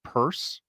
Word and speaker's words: Purse: I believe this is going to be pronounced Purse.